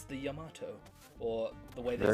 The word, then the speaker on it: Yamato: may cry 4 where they said yamato like a tomato is that virgil sword strong devil maker sure pretty sure if you want to say it properly it's yamato yeah yamato that that's how i say it and like dante says um gotta say it with a slight japanese accent and that's correct sorry right it will